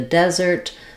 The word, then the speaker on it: desert: a desolate place um I've Rewritten the F vow with letters eh for you here uh it is the same vowel that's in red and there's the symbol for it and so our de is long and our zert is short we still have the